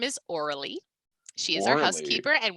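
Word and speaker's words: Aurélie: how it's said okay it's not orly it's orally okay so i will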